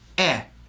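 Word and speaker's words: へ: it there's knee and e it's written as he but it's pronounced you're going to hear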